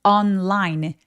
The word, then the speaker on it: online: 자, 이게 온라인이 참 발음하기 어려운데요. 우리말로는 온라인 혹은 온라인이라고 발음해요. 이게 자음동화가 돼서 그런데요. 이 영어는 N하고 L하고 따로따로 원래 자기들이 가진 속성 그대로 다 살려줘야만 합니다. 그래서 on 해서 혀끝이 입천장의 윗니 쪽에 또렷하게 닿게 해주시고요. online. L 소리 낼 때처럼 윗니 뒤쪽을 혀끝으로 뭉개면서 굉장히 또렷하게 우리말 을이 있다고 생각하고 을이 있다고 생각하고 online이라고 꾹꾹 또렷하게 다 발음해 주세요.